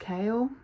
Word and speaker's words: Chaol: It's spelled Chaol, but it's pronounced Chaol on the audiobook, which is kind of funny.